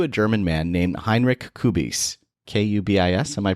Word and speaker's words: Kubis: So the first ever position of a flight attendant belonged to a German man named Heinrich Kubis. Kubis. Am I pronouncing that okay? Kubis, yeah.